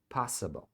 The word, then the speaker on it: possible: Possible as soon as aqui no finalzinho é Possible não se pronuncia Esse i como i é um a vamos lá então pro